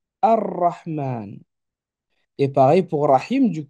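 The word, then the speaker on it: الرحمن: Or, dans le cas de Rahman, il est particulier, le L ne se lira pas. Il s'écrit, mais il ne se lit pas. Et on aura ici une accentuation. Et donc de Rahman, je passe à Ar-Rahman.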